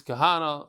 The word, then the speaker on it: Kahana: Kahani, because pronounced Kahani because I'm originally from Brazil, but I think the correct pronunciation is Kahana. Okay, like the Kahana's in Talmud.